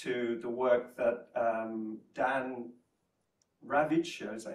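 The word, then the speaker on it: Ravicher: We're then introduced to the work that Dan Ravitcher, is that how you pronounce it? Ravitcher, yeah.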